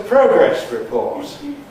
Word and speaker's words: progress report: time to submit a progress report. Time to submit a progress report. But not on report, no. That would be in contrast to a progress something else. This is a compound noun.